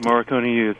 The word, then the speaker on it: Morricone Youth: And now, first of all, am I pronouncing the group's name right, or am I wrong? It sounds correct. Morricone Youth.